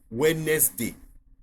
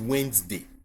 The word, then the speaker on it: Wednesday: For example, Wednesday. That's not the way you pronounce it. It is Wednesday.